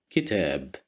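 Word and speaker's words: كتاب: Kitab, kitab, kitab, which means a book, as you see. Here we have kasra right below the letter kaf, so that's why we pronounce it as ki, kitab.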